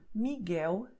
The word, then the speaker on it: Miguel: letter is a consonant, and then the sound will be U, Miguel, Thelma.